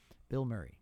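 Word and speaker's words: Bilmuri: For the listeners, it sounds like I'm saying a celebrity's name, but it's spelled as one word, B-I-L, one L, no space, M-U-R-I. That's how it's spelled. Bill Murray.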